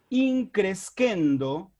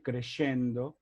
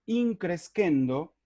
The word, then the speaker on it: in crescendo: cosas las demás cosas in crescendo que así debemos pronunciarlo no en latín no a la italiana nada de crescendo in crescendo sería creciendo aumentando de